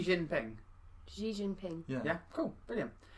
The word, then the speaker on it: Xi Jinping: keep want to say G is G Jinping Xi Jinping yeah yeah it's the second largest economy in